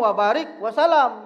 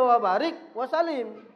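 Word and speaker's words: وبارك وسلم: Banyak orang ngomong wabarik wasalam dibacanya. Padahal kalau dia wabarik wasalim.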